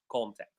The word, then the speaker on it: contact: Contact. So when it is a noun, we stress the first syllable, but if it is a verb, we stress the second syllable.